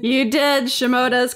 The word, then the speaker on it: Shimota: name did I say that right you did shimoda is correct excellent I got your first name